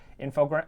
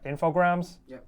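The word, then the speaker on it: Infogrames: right now is actually info grant info grams is how you say it yeah you guys have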